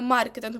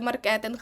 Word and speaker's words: маркетинг: До нас прийшов маркетинг саме маркетинг бо ви дуже часто говорите маркетинг забудьте маркетинг так дуже гарно у нас